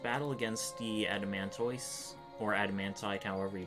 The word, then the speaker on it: Adamantoise: So if that explanation out of the way, this should be our first battle against the Adamantoise, or Adamantite, however you pronounce it. Yeah, it's Adamantoise, pretty sure.